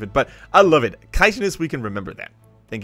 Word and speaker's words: chitinous: And I have learned it is, in fact, pronounced chitinous, according to every result on Google ever.